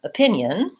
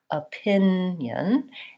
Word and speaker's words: opinion: unstressed schwa for example in the word opinion we have the same sound we have a schwa opinion and second syllable stress so I have a short reduced uh sound at the start of opinion again you can see